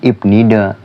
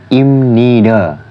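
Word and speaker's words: 입니다: bunyi yaitu jadi miem jadinya bukan ibnida tapi imnida yang artinya adalah Terus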